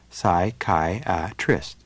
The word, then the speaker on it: psychiatrist: word up into syllables for example the word psychiatrist would be split into four parts as PSI Kai trist then you first pronounce the individual letters in the first syllable